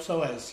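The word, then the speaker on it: psoas: poas pz the ilot soas yes PS p silent p p so y can so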